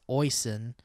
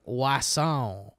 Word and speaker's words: Oisin: First off, a quick guide on how to pronounce Oisin. Not like Wasson.